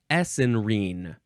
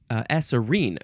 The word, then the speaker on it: esserine: Next is essenrine. Essenrine. E-S-E-R. Esserine. I think I added an N in there.